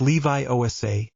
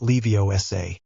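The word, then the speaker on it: Leviosa: You're emphasizing the wrong syllable. It's Levi Osa. Not Lei Osa.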